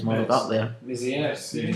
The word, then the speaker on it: Mézières: Mézières, did you say?